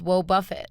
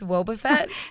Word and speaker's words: Wobbuffet: to Boba Fett I thought this Pokemon was pronounced woe Buffett it's Wobbuffet if there's one thing to know about Pokemon it's that nobody pronounces the names correctly of Pokemon but I'm pretty sure it's Wobbuffet well Wobbuffet whoa Buffett looks nothing like Boba